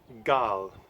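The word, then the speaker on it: Galle: I'm going to talk about today is called God but it's spelled golly-gee a llv and this is a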